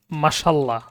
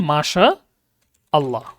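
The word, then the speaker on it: ما شاء الله: আমরা বাংলাতে একদম সবাই সমান তালে লিখতে থাকি যে কিভাবে লিখি? মাশাল্লাহ। মাশাল্লাহ। তাই না? এভাবে লেখা যাবে না। এটা তাহলে ভুল উচ্চারণ আর কি। লিখবেন মাশা আল্লাহ।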